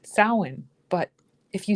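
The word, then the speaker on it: Samhain: And I was laughing this morning because you'll get slammed for saying Sam Hayne because it's pronounced sin.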